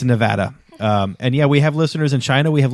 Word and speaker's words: Nevada: in um to Nevada and pronounced it Nevada and somebody corrected him or lots of people corrected him and he told them like wrong yes he told them they were wrong so wrong it's Nevada um and yeah we